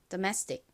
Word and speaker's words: domestic: 이 단어의 가장 큰 강세는 이 매 부분에 있습니다. 그래서 domestic, domestic 이렇게 이 매 부분을 강조해 주셔야 합니다. 따라해 보세요. domestic.